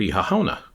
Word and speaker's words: Oíche Shamhna: There's actually an Irish word, Oíche Shamhna, and that's how you pronounce it.